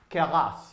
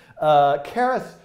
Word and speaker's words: Keras: I don't know how to pronounce it. Keras.